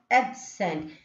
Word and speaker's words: absent: Here absent. Absent, a is stressing, so the syllable, so the phonetic symbol given is a for apple.